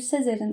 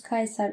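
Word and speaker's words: Caesar: unutamadığım tek şey anımsattı o da şu Sezer'in isminin aslında yüz Kayser olarak telaffuz edilmesi gerektiği şey yolunda kikero bakın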